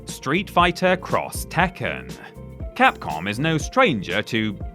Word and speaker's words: Street Fighter X Tekken: Street Fighter X Tekken, that is how it's pronounced, was the first of a planned 2-game